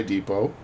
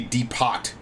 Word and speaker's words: depot: at the imperial supply depot it's another funny word with a letter that you don't even pronounce when you say the word should be depot all right metal gear